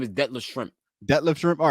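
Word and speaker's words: Detlef Schrempf: Detlef Shrimp.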